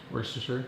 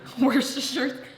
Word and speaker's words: Worcestershire: Worcestershire. Worcestershire.